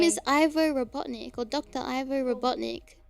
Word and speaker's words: Ivo: His full name is Ivo Robotnik, or Dr. Ivo Robotnik. Ivor? His name's Ivor? Ivo. Oh, eyeball? Ivo. You didn't write it! I-V-O. Ivo. Sounds like eyeball.